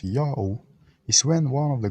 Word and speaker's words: Ya'oh: read Iota, Alpha, Omicron, read it as Yao, just like the basketball celebrity Yao Ming.